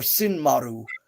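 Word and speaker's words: Sinmara: both C and sinur or sin Maru is how it's pronounced um couple of things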